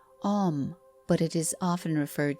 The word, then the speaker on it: Om: A sacred sound can slow down your mind and it is pronounced om, but it is often referred to as.